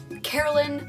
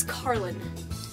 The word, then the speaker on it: Karlin: there right now um it's also Carlin with an N at the end you know Carlin just don't over pronounce the in because I had someone do that once drove me up the wall it's not a silent end my name is not Carly Carla Carolyn Carolyn I don't know however you pronounce it's Carlin okay just clarifying I